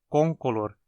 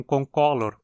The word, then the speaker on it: concolor: uma de cor uniforme perceba que a pronúncia adequada é com calor e não concolor como muitos falam Color em latim significa cor mas o incolor não é longo então ele não pode receber a sílaba tônica em palavras se tiver algum prefixo Então agora você já sabe a pronúncia adequada é Puma concolor e nossa última espécie